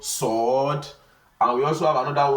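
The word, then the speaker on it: صاد: So it is something that is emphatic. It's not a light letter.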